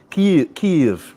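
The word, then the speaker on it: Kyiv: Kiev. I'm practicing my pronunciation there with the drawn out.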